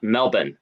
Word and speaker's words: Melbourne: you pronounce it uh Melbourne the r the r is silent so it's the University